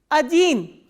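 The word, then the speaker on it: один: For 1, we say Ajin. O, D, E, N. And this E is stressed, O is unstressed. So, unstressed O will be A. Ajin.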